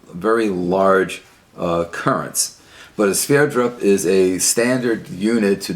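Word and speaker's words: Sverdrup: to denote water transport and it's called a sphere drop which is spelled s ve Rd RUP named after the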